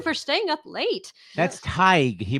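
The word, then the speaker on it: Tadhg: Tag from Ireland, $15. Thank you. Hello to Ireland. Yes, Yay. thank you for staying up late. That's Tig.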